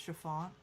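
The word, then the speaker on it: Siobhan: Her name was Samoan and she used a double or nothing guys whether they could pronounce her name is pronounced Chiffon.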